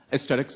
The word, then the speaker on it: Aestetix: Aesthetics, it's AESTETIX.